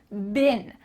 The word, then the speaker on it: been: this down I've been that sounds like a short I be I and bin I've been here fer